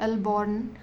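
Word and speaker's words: Alboran: अगर आप वेस्ट में हो तो यहां पर अलबर्न सी आएगा जो भी है आप प्रोनाउंस आपने अकॉर्डिंग करना अल्बोरान जो भी है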